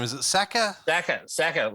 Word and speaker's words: Sakker: Sakker, like sack of shit.